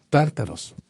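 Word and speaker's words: Τάρταρος: En griego se escribe con tau, alfa, ro, tau, alfa, ro, omicron, sigma. Tártaros.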